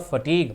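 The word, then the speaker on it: fatigue: I dropped with फटग इस word का उच्चारण होता है फटग मतलब भयंकर जो थकावट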